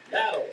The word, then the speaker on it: Nattles: Did I say it right? Or Nattles? No, it's Nattles.